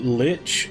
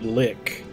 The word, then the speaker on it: lich: heard people pronounce it Lich and I've heard people pronounce it lick I've never heard anybody pronounce it Li and completely ignore the sea he remorselessly and relentlessly